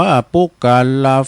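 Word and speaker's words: ปุคคลา: ก็ มี แล เย ปุกกลัลา อ่าน ว่า ปุกัลลาะ ฝุง ใด อัน เกิด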